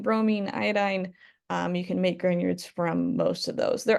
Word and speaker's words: Grignard: So just so that we're kind of pronouncing it right when we say it out loud, Grignard is the way that name is pronounced, and it is the name of a person.